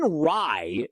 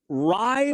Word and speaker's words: Rai: One thing I love about him from a broadcasting perspective, I texted my buddies this this morning, Rai rhymes with so many things.